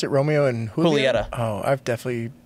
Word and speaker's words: Julieta: Wait, so you pronounce it Romeo and Julieta?